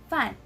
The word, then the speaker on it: 饭: So the Mandarin term for rice is 饭, 饭. So as you can see, it has the fourth tone. So we're gonna sound like we're exclaiming. So we're gonna pronounce it as 饭, 饭, like that.